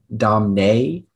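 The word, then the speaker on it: domnei: the word is domine i might have been pronouncing it slightly incorrectly before the word is domine it is a noun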